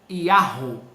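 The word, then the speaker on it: יהו: Se fosse, seria Yahu ou Yahu, tá? Porque Yud, Rei, Vav tem um som de Yahu ou Yahu, tá bom?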